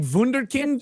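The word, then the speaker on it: Wunderkind: else I don't know how do you pronounce that that's a German word wonder wonderkind wonder actually like wonderkind I think it's stupid that's how you say it in the German but I actually used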